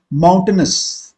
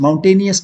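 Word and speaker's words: mountainous: माउंटेनस बोलने पर ही clear हो जाता है, माउंटेनस, माउंटेनियस नहीं होता है। ठीक है, पहले पहले अगर आपने प्रोनाउंसिएशन सही कर लिया तो सारा चीज क्लियर हो जाता है। माउंटेनस बोलते हैं, माउंटेनियस नहीं बोलते हैं।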